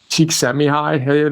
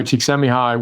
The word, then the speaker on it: Csikszentmihalyi: his paper he wrote with Csikszentmihalyi, there's debatable, but that's kind of how I learned how to say it. Mihai Csikszentmihalyi, with whom he founded the positive psychology movement, completely changed my life.